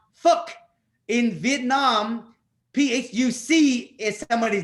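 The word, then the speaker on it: Phúc: And so then I decided to make the Vietnamese proverb, P-H-U-C is pronounced fuck.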